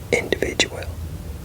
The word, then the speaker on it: individual: You know, like there's but individual. I don't know why people say ow. You know, where's the L? Individual.